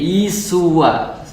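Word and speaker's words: عيسى: adalah yesua yesua jadi isuwa itu ya kalau dalam bahasa aramaik bahasa Arab itu bacanya isu jadi sama ya Ada ada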